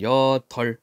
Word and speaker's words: 여덟: 단어의 올바른 발음을 골라보자이 땅을 여덜 앞에 걸로 발음하는 겁니다 여덟이 땅을 여덟 번이나